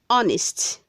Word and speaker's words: honest: not handkerchief word 199c honest say honest not honest the h is silent word 200 says hello